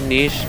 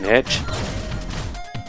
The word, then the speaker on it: niche: really niche really niche I'm not gonna care which way you pronounce it because well I got some concern to pronounce it Aneesh because it seems like more often than not go pronounce it that way but I'm not going to like say you're not a human being if you pronounce it niche just do what you